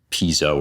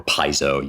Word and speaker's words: Piso: the villa of calpurnias piso or paizo you can sometimes depends how you pronounce latin in english but um this this